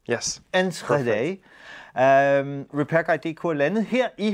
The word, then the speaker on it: Enschede: Enschede. Enschede. Was that correct? Yes. Enschede.